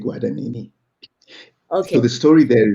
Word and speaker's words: Guadagnini: I read it Gordonini, and you pronounce it differently to me. So how do you pronounce it? Oh, I may be wrong, but the way I say it is I take Guadagnini.